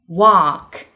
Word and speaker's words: walk: Number five, AL 紧跟着 FMK, L 不发音。Half, salmon, walk.